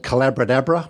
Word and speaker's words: Collabradabra: It's called Collabradabra. It rhymes with abracadabra because there's magic in collaboration.